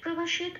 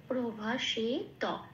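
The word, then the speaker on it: প্রভাষেত: নেই তের তলায় কাজেই তটা পূর্ণরূপে ত বলেই উচ্চারিত করতে হবে প্রভাসিত বলতে পারব না প্রভাষিত এটা বলতে হবে আচ্ছা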